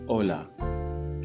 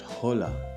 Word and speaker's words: hola: Hola. Remember, H is silent. So it is not hola, it is hola.